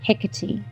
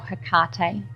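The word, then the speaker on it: Hecate: then she met with hickety or her karta it's pronounced both ways and Hakata is the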